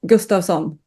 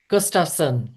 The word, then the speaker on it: Gustavsson: Well, in Swedish is Gustavsson. Gustafsson, much better.